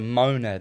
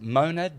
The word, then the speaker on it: monad: The Godhead, God, is a monad at the top.